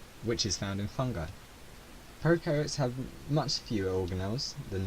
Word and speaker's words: prokaryotes: You can remember this quite easily by thinking about pro in prokaryotes rhyming with no, as in pro have no nucleus.